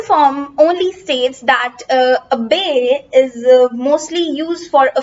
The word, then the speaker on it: bae: So the word is bay. This is how you pronounce it, bay. It says B-A-E.